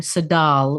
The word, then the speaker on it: Tsedal: if you can spell my first name sadal which has silent T